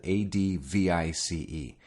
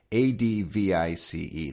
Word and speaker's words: advice: no it's not is it the noun advice is spelled adv IC e adv IC e the verb is adv is e can you